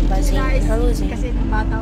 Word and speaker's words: Zayn: At ay specific mo ako kasi mali pronounce niya. Zayn. Oh, Zayn. Zan ba? Zayn.